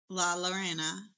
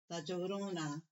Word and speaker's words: La Llorona: So, we watched Laorena. I know I'm saying that wrong. How do you pronounce it? My Hispanic mother. Laorona. Laorona. Okay, now I got it.